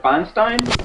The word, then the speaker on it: Feinstein: Sinister uh Senator Diane F how do you pronounce it Feinstein Feinstein Feinstein okay uh of California on Thursday